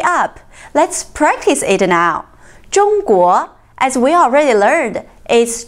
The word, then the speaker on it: 中: Here, 中 is first tone, which means middle. 中 Here is another example.